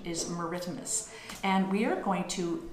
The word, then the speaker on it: maritimus: polar bear is ursus meridimus you can say meridimus or maritimus but i gather that the correct pronunciation is meridimus and we are going to work on capturing